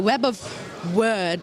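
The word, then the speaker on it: Web of Wyrd: Hellboy web of words so first of all it's very important that this is how we pronounce it isn't it so it's there that's the web of word I've had to learn that pronunciation as well I think it's possibly American pronunciation is that right I don't know I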